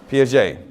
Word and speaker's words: Piaget: So, Piaget.